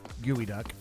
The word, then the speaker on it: geoduck: also from Australia and you said gooey duck yeah geoduck no I'm not disagreeing with that for once it's pronounced it looks like it should be pronounced yes geoda yes and